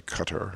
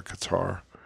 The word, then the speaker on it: Qatar: to people over there they'll give you three different pronunciations so i say cutter or qatar either way it's not